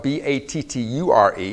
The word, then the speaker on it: batture: It's a creolized French word, which means this.